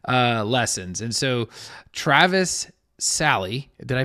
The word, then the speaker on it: Salle: And so Travis Sally, did I pronounce that correctly?